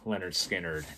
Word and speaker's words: Lynyrd Skynyrd: of vinyl right here so that is for pronounced leonard skinner and then we get to second helping and